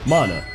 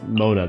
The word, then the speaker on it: Mona: Mana. Or I guess Mona, the correct way to say it, because if you switch